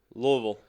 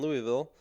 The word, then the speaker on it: Louisville: It's pronounced Louisville. Duly noted. See, Louisville. I make fun of it, and I go, Louisville. Yeah. Just keep the tongue on the roof of your mouth and just go, Whoa.